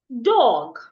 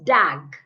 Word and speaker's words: dog: I can also have the word, excuse me, I can also have the word dog, not dag. Please. The word is dog, dog, and not dag.